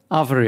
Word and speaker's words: Arvore: the the proper name the proper way to say your company's name is arabori avery okay cool yeah so